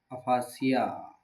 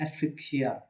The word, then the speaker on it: asphyxia: Topic है हमारा क्या, डेथ फ्रॉम अफासिया, एस्फिसिया जिसको ही बोलते हैं। प्रोनाउंसिएशन पे ज़्यादा ध्यान मत दो, सब्जेक्ट पे काम करो, ठीक है। तो इसको बोलते हैं एस्फिक्सिया।